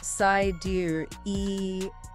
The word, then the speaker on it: Sideræl: Pronounced Sideræl. It's an Elven spelling again for sidereal.